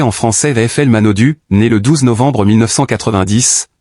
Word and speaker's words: Manaudou: Florent Manodou prononcé en français VFL Manodu, né le 12 novembre 1990, ce nom raisonne